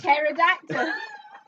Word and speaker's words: pterodactyl: The secret word to the last pterodactyl. Why is there a P in it? That's how you spell it.